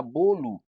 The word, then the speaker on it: bolo: Eu não digo, a gente não pronuncia bolo, a gente escreve bolo, B-O-L-O. Mas a gente fala bolo, ó, bolo. Por quê? Porque a sílaba final de bolo é átona.